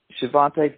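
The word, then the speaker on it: Xavante: How do you pronounce it? Is it Shavante people? Shavantes, yeah.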